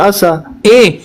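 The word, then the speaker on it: عسى: Asa, pakai ain di sini di tenggorokan.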